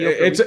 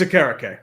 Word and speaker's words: Okereke: It's Okereke. It's Okereke. Aw, I've been. I wish it saying was. I wish it was Okereke. I thought it was the same too, and then I hear it's Okereke.